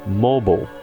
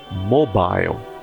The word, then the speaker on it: mobile: No inglês americano se fala mobile, mobile. Já no inglês britânico é mobile, mobile.